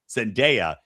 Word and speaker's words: Zendaya: be in the same, I guess, genre of Zendaya.